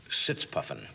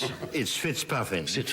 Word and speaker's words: Fitzpuffin: British agent Leslie Sitzpuffin. Actually, it's Fitzpuffin. I'm sorry. It's mispronounced. It was when I was first a young agent, and obviously still being mispronounced.